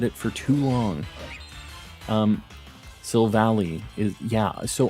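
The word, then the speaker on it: Silvally: for too long um sill Valley is yeah so I used to say sill Valley as well until I watched the anime and he's like so valite and I always said Soul Valley too but I get you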